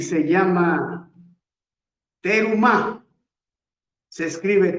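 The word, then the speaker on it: Terumah: Vamos a iniciar nuestra parachas número 19 y se llama Terumá. Se escribe t E r u m a h.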